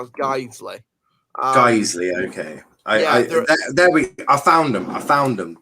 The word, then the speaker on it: Guiseley: Now, where the fuck is Guernsey playing? I don't know. First of all, it's pronounced Guiseley.